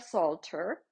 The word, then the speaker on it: Solter: Alita Salter, who is a developer of the Aware Parenting. So her last name is spelled Solter.